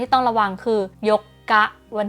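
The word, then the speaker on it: 四日: ที่ 8 นะ คะ วัน ที่ 4 เนี่ย จะ เป็น ซึ เล็ก เรา ออก เสียง เป็น เสียง กัก นะ คะ ส่วน วัน ที่ 8 เนี่ย โย กะ มี อุ ขึ้น มา นะ โย อ่าน เป็น เสียง ยาว ทัน ที นะ คะ ลอง ไป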